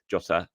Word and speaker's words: Jota: Diego jot Diego jot I can never pronounce it right I always say Diego but it's not it's like Diego jota um is pushing for